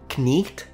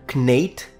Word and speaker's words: knight: Shift started to happen, the vowel changed from E to A, and only finally in the 18th century, I. In other words, from knicht to knate to knight to knight.